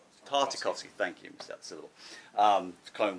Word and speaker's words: Tartakovsky: armored obi-wan Kenobi from the I can never pronounce this guy's name right tatarskiy Tartakovsky Thank You mr.